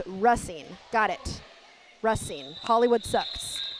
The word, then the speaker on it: Racine: spend an entire game trying to get a pronunciation right, but it's important to me. It's Racine.